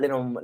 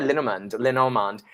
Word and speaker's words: Lenormand: Lenormand, yeah. How do you say it? Lenormand.